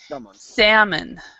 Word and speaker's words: salmon: L this second one the L is not pronounced so we say salmon salmon so what is